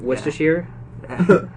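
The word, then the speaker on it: Worcestershire: or what's the a Worcester yeah so many people mispronounce that West ashir I've heard remastered Rochester Shire for a noir Chester warcaster I mean it is it is spelt really weird greenville least field I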